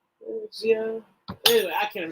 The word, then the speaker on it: wuxia: It's like Wuxia.